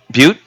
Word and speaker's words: Butte: Butte.